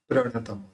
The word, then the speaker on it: प्रणत: यहाँ पे प्र है, प्र के अंदर यानी प में आधा र मिला हुआ है, तो आधा प इस र के साथ जोड़ के बोलना है। तो भक्तामर प्रणतम, इस तरह से उसका प्रोनाउंस निकलेगा। अब सलंग बोलेंगे भक्तामर प्रणतमौली